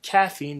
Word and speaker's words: Quaffine: a man known as caffeine it's actually supposed to be caffeine the q is silent because i freestyle very